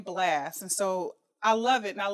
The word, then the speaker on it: Blxst: So you got the name Blast, and so I love it, and I love the way you spell it.